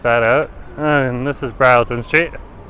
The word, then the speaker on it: Broughton: And this is Brattlton Street. Phonetically pronounced as Broughton. And that's phonetically pronounced by Google as Broughton. So Brattlton is the local pronunciation that you'll find out while you're here.